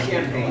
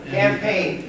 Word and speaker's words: Campaign: It's not Champagne. It's not Champagne, it's Campaign. Campaign House.